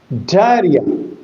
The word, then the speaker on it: diarrhea: And when it is a trielic word you will have to give stress or accent on on re on ri. So the accent is on the middle level.